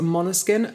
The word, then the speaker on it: Måneskin: back to this week's album which is a monoskin I believe I'm pronouncing that right it's main skin it's not